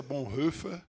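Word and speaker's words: Bonhoeffer: B rufer né a a pronúncia é essa Bon rufer eh era um pastor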